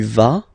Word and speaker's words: vas: Basically, you pronounce it like for the tu, because you don't pronounce the final S, okay? Il va, elle va, okay? Je vais, tu vas, il va, elle va.